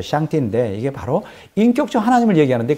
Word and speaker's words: 上帝: 그러니까 상제, 우리 한국말로 말하면 상제고, 발음은 이제 샹띠인데, 이게 바로 인격적 하나님을